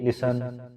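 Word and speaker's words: listen: About, लिसन, यहाँ पर भी टी साइलेंट है, टी की आवाज नहीं आएगी, लिसन।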